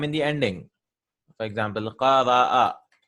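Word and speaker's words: قرأ: I'm not saying qara. No. If I write like this, it becomes qara. It becomes a long vowel.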